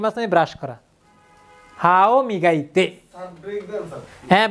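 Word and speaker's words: 磨いて: কি থাকলে কি হয়, ইতে, তাহলে কি হচ্ছে, উচ্চারণটা কি হবে স্যার? আপনি বলেন কি হবে, মিগাইতে।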